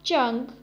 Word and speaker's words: zheng: The next Pinyin is ZHENG, has a pronunciation of chang, chang.